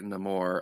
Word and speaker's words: Namor: No, Steven pronounced his name correctly. It's French. Namor. Listen, I had to stare at Namor again for 3 hours worth of road trip.